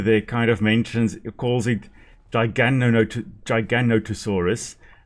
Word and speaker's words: Giganotosaurus: So Giganotosaurus, interesting that the narrator there kind of calls it Giganotosaurus. Very often it is mispronounced as Gigantosaurus, which isn't a species, it's Giganotosaurus.